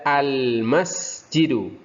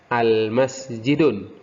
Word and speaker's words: al-masjidu: Ketika ada alif lam dibaca al-masjidu. Ya, hati-hati jangan sampai terbaca al-masjidun. Karena rumusnya tadi apabila ada alif lam maka tanwin dihilangkan. Masjidun menjadi al-masjidu.